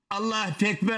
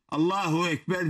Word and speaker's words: Allahu Ekber: Allah-u Ekber, Allah-u Ekber diye okuyor. Bak, Allah-u Ekber. Ne diyor hocam? Allah-u Ekber. Allahu Ekber diyecek yerde Allah-u Ekber diyor.